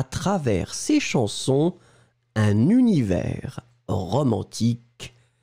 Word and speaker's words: travers: Ensuite, travers, souvenez-vous, S final qui n'est pas prononcé, T-R-A-V-E-R-S.